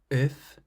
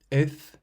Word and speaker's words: œuf: The consonants at the end of these words are clearly pronounced. Sac. Sac, meaning bag. Docteur. Docteur, meaning doctor. Œuf. Œuf means egg.